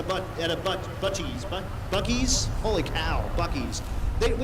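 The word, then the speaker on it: Buc-ee's: route but we got to go see uh abuji's is that how you say it gucci's bucky's buckys oh buckies yeah so we got to go see a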